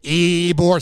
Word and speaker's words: Ybor: problem with ebor city you got to say it like that you can't just say eboor city you gotta say eebor city it's a fun time